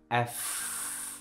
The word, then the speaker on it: F: কিন্তু এই উচ্চারণটা হচ্ছে উপরের দাঁত আর নিচের ঠোঁট লেগে যাবে, আর এই দাঁতের ভেতর দিয়ে একটা বাতাস বের হবে, খেয়াল করেন, এফ এফ এফ এফ, মনে থাকবে।